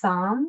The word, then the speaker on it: Saam: So it's Saam, which rhymes with calm.